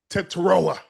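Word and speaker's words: Tetairoa: Bryce Young 17 to 25, 199, three touchdowns, two going to your guy, Teroa McMillan.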